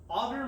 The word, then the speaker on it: agar: Agar meaning, this is spelled A-G-A-R.